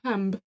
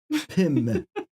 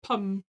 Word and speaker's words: Pim: Pum. In New Zealand. In New Zealand, we'd pronounce it pum, but it's P-I-M. Pim. Not Pam. Not Pan. Not Pamb.